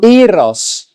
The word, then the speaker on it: Gyros: How do you pronounce it? Gyros. Drop the G and drop the S, and that's an example of the box.